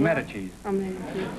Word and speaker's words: Medici: Medici. M-E-D-I-C-I.